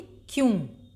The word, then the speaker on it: क्यों: इसी प्रकार से ये आधा का, तो इसको कैसे बोलेंगे? क्यों। या के संग हल्के से का भी आप लोग उच्चारण करेंगे, क्यों। या पूरा आएगा और का हल्के से।